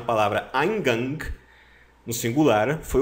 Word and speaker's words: Eingang: Eingang, tá? Pronúncia, mais ou menos assim, ó. Eingang.